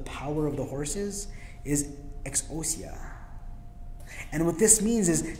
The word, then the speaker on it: exousia: The Greek word here in verse 19 for the power of the horses is exousia.